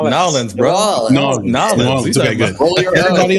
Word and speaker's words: New Orleans: Because I'm terrible at pronunciation. Nolans, bro.